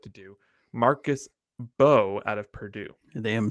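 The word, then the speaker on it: Mbow: Marcus Bowe out of Purdue. They am silent. I see that. Thank you for the pronunciation.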